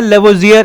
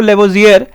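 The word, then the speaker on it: Lavoisier: और यह बंदा तो भैया आप जानते हैं एंटोइन लेवोजियर तो ले लेवोियर आर हल्का सा साइलेंट सा रहता है लेबोजियर आप बोल दो चाहो तो लेवोजियर है ना तो इस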